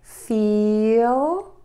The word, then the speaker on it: feel: And a big tip here is make sure you say the L sound distinctly at the end of these words by touching the tip of your tongue to the back of your top front teeth.